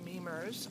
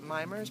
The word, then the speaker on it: Memers: MERS 66, and I'm Memers on Ravelry. Most people pronounce it Mimers, but it's Memers, and it's basically a childhood name.